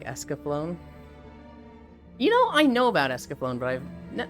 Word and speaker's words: Escaflowne: It's a nay sound at the end. Escaflowne. Yes, it's Escaflowne.